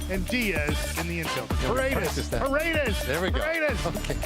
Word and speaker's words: Paredes: I always want to say Padres, so I say Padres, but then I know it's Paredes.